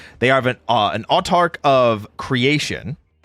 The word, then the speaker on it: Autarch: They are not a royal knight of his majesty, but they are in fact I'm going to butcher the pronunciation on this. Is it otarch?